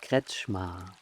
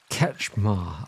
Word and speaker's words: Kretzschmar: Yes, hi, I'm Kretzschmar. Kretzschmar.